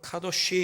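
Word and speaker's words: קדוש: 우리 거룩하다라는 말을 히브리어로 카도시 이렇게 발음하는데 그 카도시라고 하는 단어가 레위기에만 모두 152회에 등장합니다.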